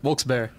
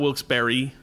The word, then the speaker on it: Wilkes-Barre: What is the correct way to say Wilkes-Barre? Wilkes-Barre. Okay. That's it. That's Wilkes-Barre. it. Not Wilkes-Barre. Nope. Not Wilkes-Barre. Not Wilkes-Barre.